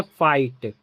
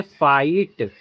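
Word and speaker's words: fight: जैसे फाइट तो आई के बाद जी एच टी आ गया ना तो जी एच साइलेंट होगा। तो यह पढ़ेंगे फाइट।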